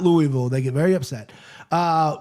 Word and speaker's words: Louisville: Russell see you in Louisville. Uh that's how they say it though. Don't say Louie though.